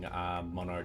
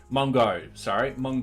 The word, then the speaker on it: Mongo: out into NoSQL, like using Mono database. Hang on. Mongo database. I knew I said it wrong.